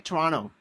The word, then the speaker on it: Toronto: Uh, I lived in Toronto, Canada for seven years or as the locals say, Toronto.